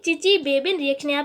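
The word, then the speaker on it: Chichibabin: तो during चिची-बेबिन reaction, इसको क्या पढ़ेंगे? चिची-बेबिन रिएक्शन। यहाँ पे जो TS है वो क्या है? साइलेंट है, तो आपको इसको प्रोनाउंसिएशन सही से करनी है।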